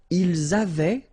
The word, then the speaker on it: ils avaient: Ils avaient, so remember, even if we've got this A-I-E-N-T, well, we don't pronounce it, or we don't pronounce this E-N-T, so we get avait, okay, phonetically.